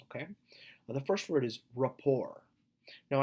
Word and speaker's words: rapport: the first word is rapport now I know that there's a T at the end but typically we don't say the T so let me pronounce that one more time for you rapport so rapport is the